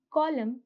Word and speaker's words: column: In words like hymn, dam, solemn, column, the N is silent.